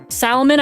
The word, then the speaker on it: salmon: Salmon, I pronounced the L.